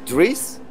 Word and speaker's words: Dries: It is Dries, and the surname is Nyes. So Dries Nyes is his name.